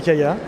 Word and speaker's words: Kya: It's pronounced “Kee-ya” or “Ka-ya” depending on the country...